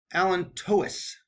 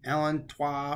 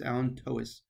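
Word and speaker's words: allantois: I prefer it sunny side up now the alent Tois right that's the actual pronunciation I used say alenta or aleno but it's alent Tois this forms most of the umbilical cord so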